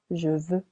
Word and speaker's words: veux: as savoir il sav dit be careful irregular I want je veux silent x we know as connaître